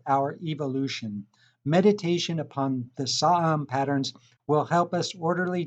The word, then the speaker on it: Saam: Saam, pronounced Saam, was a high monk in Korea during the Joseon dynasty, 15th century.